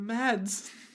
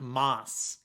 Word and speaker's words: Mads: Oh, but Mads. Mads. Good old Mads. Apparently it's more accurately pronounced something like Mars.